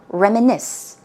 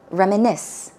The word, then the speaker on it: reminisce: finally we have reminisce now be careful when you pronounce this word it's a tricky word to pronounce the stress goes on the last syllable reminisce reminisce one more time reminisce it means to remember